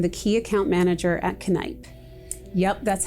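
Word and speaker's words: Kneipp: curcione and i'm the key account manager at canipe yup that's how you pronounce it connipe this year we're celebrating our 130th birthday and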